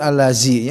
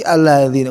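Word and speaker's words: الذي: Setiap alladzi, nah mungkin allazi ya, pasti alladzi.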